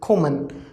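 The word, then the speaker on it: kommen: See, K-O, like ko, okay. It is not complete ka, it is not completely kha, okay. So in between of them, ko, okay. So ko, ma, an, ko, ma, an, common, okay. So pronunciation is common and it means to come.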